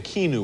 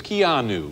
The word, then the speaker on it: Keanu: for mispronouncing your name i was saying kinu or something it's kianu yes that's correct it's an unusual name